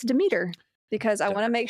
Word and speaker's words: Demeter: Demeter. It's Demeter. Okay. I don't know. I could be saying it wrong too, but my teachers always said Demeter, so I'm just going by what I was taught, okay?